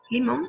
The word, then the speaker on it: limón: Limón es una palabra aguda. ¿Por qué? Porque la sílaba tónica es la última sílaba de la palabra. Mon, limón. Ahora, como la palabra termina en N, la acentuamos, le ponemos una tilde.